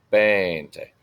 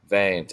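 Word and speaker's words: veinte: Not Ben, not Bente. 20. 20. It is with a V, but it's pronounced like a B.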